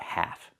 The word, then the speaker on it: half: First, let's talk about half. First, pronunciation. The L is silent and the A makes the A sound like in black cat.